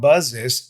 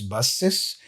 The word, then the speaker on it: buses: that you usually say the S is pronounced as an S so it's not buzzes it's buzzes it's not basic it's